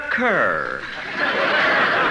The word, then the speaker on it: Kerr: isn't it yes but in England it's pronounced car oh just like here